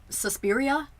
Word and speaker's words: Suspiria: Suspiria? Is it how you pronounce it?